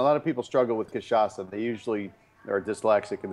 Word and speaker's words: Cachaça: yeah, I'm pronouncing it correctly, yeah? Cachaça? Cachaça, right.